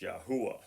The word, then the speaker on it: Yahuwah: Their deity, I am that I am, is pronounced Yahuwah.